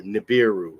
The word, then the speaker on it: Nibiru: I know it's Nibiru. Okay. Or Nibiru, as some people pronounce it.